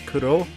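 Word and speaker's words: クロ: the Black Mask, because in Japanese, the codename Crow, like the way it's actually pronounced, is Kuro, and the Black Mask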